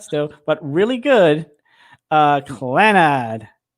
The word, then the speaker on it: Clannad: it yes yes yes so basically clan clannad and some people like me who pronounce the wrong claw not or whatever um it basically is